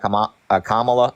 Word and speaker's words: Kamala: I think the policies that Kamala, am I saying it right?